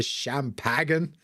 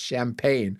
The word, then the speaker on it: champagne: and he's like oh would you like the rest of the champagen it's pronounced champagne oh God and that's